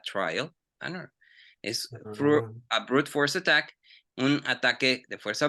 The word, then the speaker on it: brute force: Brutal force attack. No, A brute. trial and error. Brute. Aguas, dijiste brutal. Entonces estás diciendo, ya dijiste que fue brutal. No, es brute force.